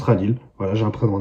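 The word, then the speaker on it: Khalil: simplement appelé radil voilà c'est écrit KH a l i l mais ça se prononce radil voilà j'ai un PR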